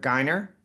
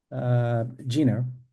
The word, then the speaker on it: Geiner: I'm going to bring to the stage our first guest, Geiner. did I just say your name correctly? No, but I forgive you. How do you say your last name? Gina.